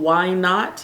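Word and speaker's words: Wine Not: color this is 004 it's called why not and it's spelled like w i n e wine why not all right so I'm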